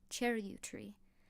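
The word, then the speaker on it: charyou tree: Charut tree, she said at last, pronouncing it as Roland had. Cherut tree with a little upturned vow at the end.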